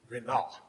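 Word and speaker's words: רִנָּה: The word triumph in the Hebrew is renah, and it is spelled R-I-N, N-A-H, R-I-N, N-A-H.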